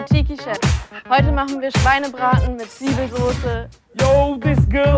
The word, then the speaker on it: Schweinebraten: Schweinebraten.